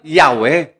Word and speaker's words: Yahweh: Pero ang pronounce po doon ay talagang Yahwe.